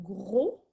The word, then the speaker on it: gros: Ensuite, on a le mot gros au masculin qui s'écrit G-R-O-S, qui est muet au masculin.